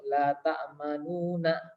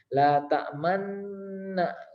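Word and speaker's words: لا تأمنا: Jadi awalnya itu lafadznya yaitu la ta'manuna, la ta'manuna. Tapi karena imalah menjadi kita digabungkan ya nun yang kedua ini. La ta'manna gitu. Dalam pembacanya la ta'manna gitu ya. Kita monyongkan atau kita moncongkan bibirnya ya.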